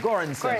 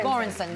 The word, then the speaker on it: Göransson: How do you pronounce the last name? Ludwig Göransson. Göransson.